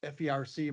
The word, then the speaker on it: FERC: It's pronounced FERC by the staff agency FERC.